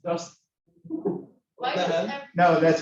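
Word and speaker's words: UDST: It's pronounced dust.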